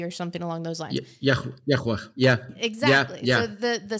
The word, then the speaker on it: Yahweh: Like, what is the sound that God gave in order to pronounce his name? I am YWE or something along those lines. Yahweh.